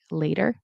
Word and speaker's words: later: Later today. Notice with the later, it's not later. I mean, you could, but generally in casual speech, Americans will say later. It'll be a flap T, which is like a D.